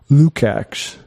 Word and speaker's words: Lukacs: This is from George Lukacs. I looked up the pronunciation of that. It's tough though. It's Georgi. Yeah. Lukacs, not to be confused with George Lucas.